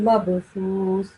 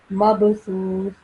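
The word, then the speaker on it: مبثوث: So we'll pronounce this as kal farashil mabthus, mabthus. Okay?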